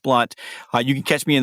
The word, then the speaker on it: Blount: And my last name is spelled Blount, although it's pronounced Blunt.